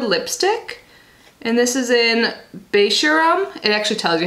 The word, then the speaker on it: Beisharam: And this is in Beisharam. It actually tells you how to pronounce it on here, so that is how I know.